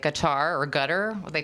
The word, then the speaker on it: Qatar: Maybe it's not as in depth, but when you look at really, really wealthy countries in the Middle East, like Qatar or Qatar, what they call it, it's Q, I think it's it's ATAR.